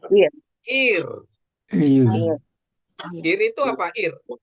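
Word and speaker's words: עיר: Ini ain ini kan silent. Ini yot ini jadi I. Jadi bacanya jadi R. apa? Air. Air. Jadi R atau ir.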